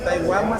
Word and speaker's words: Taiwama: Taiwama significa hermano. Ajá, nosotros en lengua materna náyari lo pronunciamos así tal cual como está escrito, como lo podrán ver en